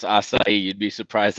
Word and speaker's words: acai: I'm glad you know how to pronounce acai. You'd be surprised how many people call it akai or acacia.